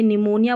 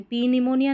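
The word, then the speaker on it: pneumonia: पी silent देखें, पी एस और पी एन साथ में आते हैं ना स्टार्टिंग में इंग्लिश की स्पेलिंग्स में, तो यहाँ पर पी साइलेंट रहता है, तो इसको साइकोलॉजी बोलेंगे, निमोनिया बोलेंगे हम, पी साइकोलॉजी नहीं बोलते, पी निमोनिया नहीं बोलते, है ना।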